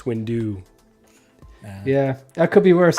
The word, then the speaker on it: Windu: say like mace window that's not right yeah I think Americans we pronounce it with the do a lot longer it's like Mace Windu yeah that could be